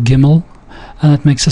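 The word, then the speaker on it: גימל: that in mind uh the next letter is giml or giml um don't worry about the how I pronounce the final l sound uh so uh let's call it gimmel and it makes a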